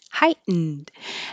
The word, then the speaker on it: heightened: it it's just hi heightened and you won't hear the D unless there's a vowel after it heightened alert but if there's not a vowel after it you won't hear it at all heightened senses heightened senses